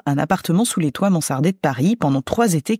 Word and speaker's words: mansarde: sur le fait que je m'obstine à prononcer Mansard manzard dans le podcast mais bon entre un Z et un S bonjour ellisabeth bonjour iris